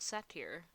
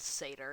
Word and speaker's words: satyr: his accent and then I heard someone else the other day who actually said sailor and I'm like okay it's pronounced sailor it's not set here well okay I'll relearn